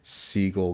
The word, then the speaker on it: Seagal: It would have been at the time under the old pronunciation Seagull Goldman Productions.